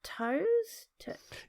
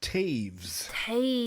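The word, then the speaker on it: Toews: by Miriam is it toast it's pronounced Taves like saves yes thank goodness you're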